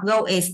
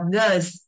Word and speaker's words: goes: Riêng cái từ goes thì chúng ta không có đọc go is đâu mà chúng ta chỉ đọc goes.